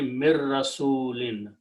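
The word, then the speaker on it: مِن رَّسُولٍ: Number two, when noon and ra come together, you do not pronounce noon but pronounce ra twice. So tajweed will be mir rasulin. Okay, do not pronounce min. That's the reason there is no harakat or those sukoon on noon. So this noon sukoon will go away. Mim will combine with the ra.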